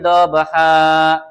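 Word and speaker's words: ضبحا: Walyati dobha. Nah, ha di situ bacaannya ha bukan han.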